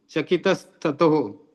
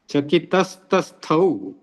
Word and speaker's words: चकितस्तस्थौ: सर्वम इदम, सर्वम प्लस इदम समालोक्य, सम प्लस आलोक्य, पार्थिव पार्थिवस्तु चकितस्ततो, चकितस्तथो, नहीं गलत बोला, चकितस्त चकितस्तस्थौ, चकितस्तस्थौ, तो जहां पर कुछ शब्द डिफिकल्ट हो जाते हैं उनका उच्चारण सही तरीके से करना है।